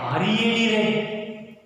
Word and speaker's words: read: You have read there RED. Children, in the present tense, read. In the past tense, we used read. Not RED read, RED. Pronunciation is changed. Same spelling.